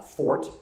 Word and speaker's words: forte: I know it's not Jason's uh fort. That word is not pronounced forte. It's fort.